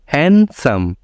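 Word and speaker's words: handsome: डी पे silent है हैंडसम गलत है हैंडसम तो आपसे हैंडसम मत बोलिएगा हैंडसम क्योंकि डी की बाद क्या है एस सो इसलिए डी यहां पे साइलेंट है एंड लास्ट है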